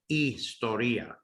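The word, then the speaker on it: ἱστορία: how you'd spell istoria now there's no h sound in the word istoria it's like a silent h uh and in the greek it's not it's not even spelled with an h so that's going to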